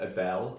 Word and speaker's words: Ebel: by and that was the eel or Abel as some people say I just go for the more phonetically sounding eel and I started then